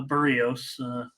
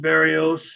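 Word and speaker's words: Berríos: good Barry a a burrios I should try to say it right I have just always said Barrios and uh I know it's burritos uh solo owes money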